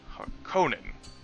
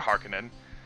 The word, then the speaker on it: Harkonnen: along with playing as House Harkonnen, or Harkonnen. Either pronunciation, in my opinion, is acceptable. For the purposes of this